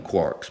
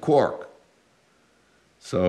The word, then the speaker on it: quark: I had been calling them quarks most of the year, but I supposed it was probably spelled K-W-O-R-K or something like that.